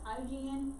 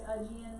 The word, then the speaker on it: Aegean: aegean sea down here i've heard it pronounced hygiene you hear it mainly as ajin though so then you have mediterranean